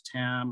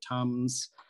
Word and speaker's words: Tam: a few minutes ago pronounce my name properly whether it's thumb whether it's tam or tums tum and i think it's